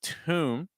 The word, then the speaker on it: tomb: here is Tom okay watch out for this oo sound for those of you who are British training getting from this T sound to an U can be a little tricky you don't want to add a e sound before so it's not t it's just going to be Tom go right from the